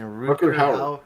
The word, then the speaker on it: Rutger Hauer: Rutger Hauer.